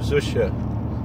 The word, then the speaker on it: Zusha: the Holy Rebbe Reb Zusha from Anapoli, the Rebbe Reb Zisha, depends on how you pronounce it. Where he lived in Ukraine, they probably said Zisha.